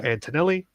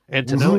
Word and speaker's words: Antonelli: At fullback, Sky Antonelli. So that's how you pronounce it, as she said to us, Big T. Antonelli. Mm-hmm. Antonelli.